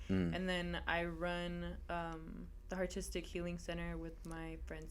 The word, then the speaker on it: Hartistic: And it's pronounced Hartistic. Hartistic, yeah. How did I say it earlier? Haristic.